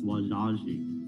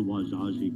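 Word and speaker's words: Wazhazhe: encountered the osage uh we also call ourselves wajaji and they wrote it down and when they wrote it down the english came along and looked at that spelling and they started pronouncing it osage but but we really are called the wajaji people the osage have have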